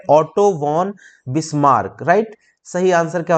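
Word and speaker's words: Otto von Bismarck: तो ऑटो वॉन है, VON spelling होती है, ऑटो वॉन बिस्मार्क।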